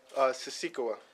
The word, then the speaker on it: Sisikawa: Siskawi? Sisikawa.